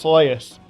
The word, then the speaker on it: Celes: Luckily, this character appears in the game World of Final Fantasy, where her name is pronounced Celes, ending any debate on how to properly say her name.